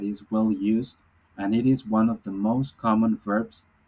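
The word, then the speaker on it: hizo: is changing is because the Z or the S are pronounced the same in Spanish so we say ISO usted so because of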